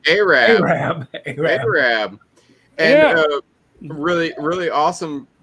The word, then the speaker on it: Arab: It is not Arab. It's It's Arab. Arab. Arab.